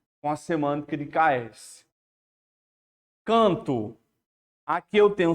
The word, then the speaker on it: canto: A palavra canto, né? Canto. Você está pronunciando 4 fonemas. Esse AN, ele está com um único som.